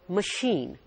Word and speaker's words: machine: While in the second word, C-H is pronounced as sh.